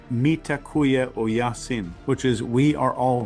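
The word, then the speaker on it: Mitakuye Oyasin: In ancient Native American wisdom, uh they have a phrase that's I think pronounced mitakuya o yasin, which is we are all relatives.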